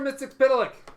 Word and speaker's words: Mxyzptlk: Mxyzptlk.